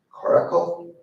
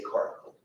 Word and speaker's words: coracle: Okay, this word can be pronounced two different ways, coracle or caracle. I will choose to say coracle.